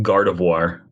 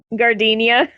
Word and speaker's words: Gardevoir: used to know Chelsea keeps like mispronouncing the word the the Pokemon Gardevoir yeah what do you keep saying gardenia gardenia which is not even phonetically remotely what the word even looks like like I get